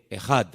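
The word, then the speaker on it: אחד: Y esa palabra, el Señor nuestro Dios es uno, es una palabra que se pronuncia e J. Ejad.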